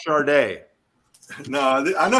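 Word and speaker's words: Sade: Simone sings the blues it's pronounced charday no I know how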